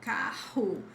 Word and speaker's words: carro: If you see the double R in the middle of words, which is where they will appear, the sound is always like ha to carro, guerra.